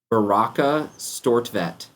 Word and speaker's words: Beracah Stortvedt: How do I pronounce your name? Beracah Stortvedt.